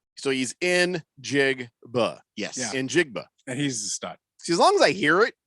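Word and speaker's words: Njigba: Smith and jigba so he's in jig yes in jigba and he's a stud see as long as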